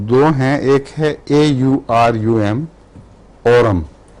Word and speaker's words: Aurum: آرم دو ہیں، ایک ہے AURUM، اورم. اس کا تلفظ آرم نہیں ہے بلکہ اورم ہے، اور یہ وہ چیز ہے جو اس کو سونا کہتے ہیں.